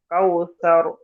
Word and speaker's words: كوثر: إنا أعطينا তারপর إنا أعطيناك الكوثر সায়ের মাখরাজ কেমন হবে? সায়ের মাখরাজ কাউসার, কাউসার। كوثر كوثر জিহ্বার আগা, সামনে দিয়ে দিতে আগায় লাগবে।